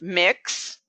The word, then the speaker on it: Mx: Dillon has an honorarium MX pronounced mix mix Asia Kate Dillon